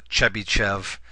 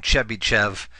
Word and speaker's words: Chebyshev: So the first one is a way of designing what's called a Chebyshev IIR. The name Chebyshev or Chebyshev, it's spelled a couple different ways.